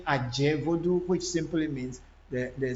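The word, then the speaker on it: Adze: AV in Volta region, AV is Aje. It's not Aze. But then a lot of people know the word Aze because it is also easy to pronounce. But then that is not how the AVs actually, our alphabet is supposed to be called Adje Voodoo.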